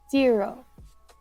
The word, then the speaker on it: Ziro: I would like to be Zero. It's spelled Ziro.